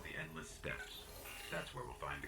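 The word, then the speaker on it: steppes: The Endless Steeps. Although it is actually pronounced steps. Now that I think about it, I always called them like the steeps. S-T-E-P-P-E-S. Is that pronounced as steps?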